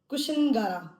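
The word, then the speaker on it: Kushinagar: And then this is कुशिनगारा, कुशिनगारा भी बोल रहे हैं, शीन के साथ भी बोल रहे हैं, कुशिनगारा भी बोल रहे हैं, कुशिनगरा भी बोल रहे हैं, तो डिफरेंट इसकी प्रोनाउंसिएशंस हैं।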